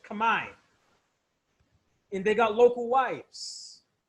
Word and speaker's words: Khmer: with the local cambodians khmer or as properly pronounced command and they got local